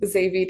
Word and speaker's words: Xavi: Javi, go ahead, right ahead. Hi, I'm Xavi.